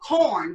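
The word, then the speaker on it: Quorn: me we have um corn which is it's spelled q-u-o-r-n so people pronounce it people think i'm saying porn but it's pronounced it's pronounced that way but it's spelled with the q but they have the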